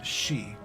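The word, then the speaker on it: 四: the number four is she which is also how you pronounce the word for death or dying so you'll notice that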